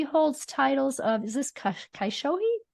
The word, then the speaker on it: Kyoshi: She's also an author and a master teacher, and she holds titles of, is this Kyoshi? How do you say that? Kyoshi. Kyoshi.